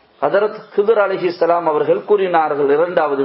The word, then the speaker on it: Khidr: ஹிரு ஹிர் முஹம்மது முஹம்மது ஹிதிர் என்பதாக ஹிதிர் என்று சொன்னால் ஹிதிர் என்றும் சொல்லலாம் ஹதிர் என்றும் சொல்லலாம். இந்த ரெண்டிலையும் ஹதிர் என்று சொல்வதுதான் சகல சகல சிறந்தது ஏற்றமானது.